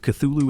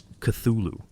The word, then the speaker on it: Cthulhu: Lovecraft gave no definitive pronunciation, though he offered several phonetic approximations in his correspondence. In a 1934 letter to Dwayne Riml, he wrote that the actual sound, as nearly as human organs could imitate it, might be something like clu, the first syllable pronounced gutturally and very thickly.